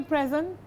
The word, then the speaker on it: present: She gave me a present is also it's a noun. So the stress is on the first syllable.